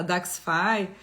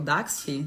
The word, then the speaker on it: Daxxify: Veio aí no INCAS aquela super possibilidade de uma nova toxina com durabilidade maior, a Daxxify, ou Daxfi, né? Então, enfim, já viu as duas pronúncias.